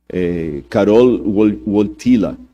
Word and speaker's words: Karol Wojtyła: E o Karol Wojtyła, esses dias eu pedi a alguém que fala polonês para me corrigir a pronúncia. Karol Wojtyła, que era o nome do Papa, ele sofreu muito na mão do comunismo na época da Polônia.